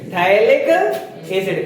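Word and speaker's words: phthalic acid: क्या बोलते हैं? थैलिक एसिड। क्या बोला जाता है? थैलिक एसिड। पी साइलेंट रहता है।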